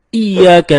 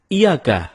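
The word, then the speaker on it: إِيَّاكَ: temen-temen ketika kita membaca iyyaka nabudu wa iyyaka nasta'in ada yang membacanya dengan Iyakah tidak menekan huruf Ia seperti seperti sebagaimana kita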